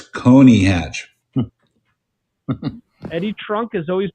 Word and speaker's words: Coney Hatch: connie hatch at 31 with connie hatch cody what's that it's coney hatch eddie trunk has always pronounced it connie well what the hell does he know he's